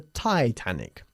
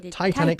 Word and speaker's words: Titanic: the tianic sank in 1912 good but we pronounce it the tianic the Titanic sank in 1912 the boat I built has